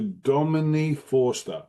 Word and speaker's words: Domini Forster: It's Dave here, Amplify, and I'm talking to Dominique Forester. Is that the correct pronunciation of your name?